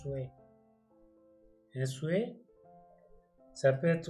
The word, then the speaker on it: souhait: On écrit souhait, on prononce souhait.